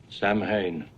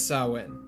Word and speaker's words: Samhain: throughout the whole ordeal samhain but i assure you it's sauwen michael finds his way